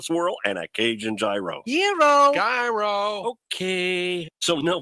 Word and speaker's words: gyro: Gyros I order the gyro Supreme suddenly the lady behind me chimes in it's pronounced Euro then the fellow behind her says it's a gyro I turn my back